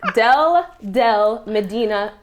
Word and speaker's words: Deldelp: It's Deldelp Medina. It's spelled Deldelp, but the P is silent.